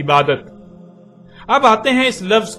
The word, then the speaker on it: عبادت: اور جب عربی لہجے میں اس لفظ کو پڑھا جاتا ہے تو تیز ساکت ہو کر ہے کی آواز میں بدل جاتی ہے، یعنی اسے عبادہ پڑھا یا بولا جائے گا. عربی کا لفظ عبادہ جب اردو میں شامل ہوا تو اسے عربی کی بجائے اردو لہجے میں تے کے ساتھ بولا گیا اور بولا جاتا ہے، یعنی عبادت.